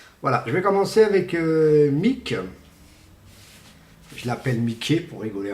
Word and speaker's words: MICKE: Bon, par exemple, je vais vous faire montrer Mick, qui s'écrit tout simplement M-I-C-K-E, qui est celui-ci.